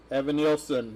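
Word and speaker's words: Evanilson: Evan Nielsen.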